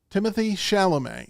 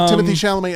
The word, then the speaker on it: Timothée Chalamet: All right, number 3, Timothée Chalamet is the way I pronounce it.